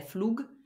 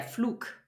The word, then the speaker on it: Flug: about is G so if there's a g at the end of a syllable or a word it turns into a k Dia fluke the flight so we don't say the flug we say de fluke the attack the day